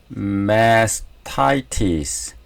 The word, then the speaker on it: mastitis: 그 다음에 아까 제가 발음을 이상하게 했던 mastitis, 타이에 액센트가 있네요.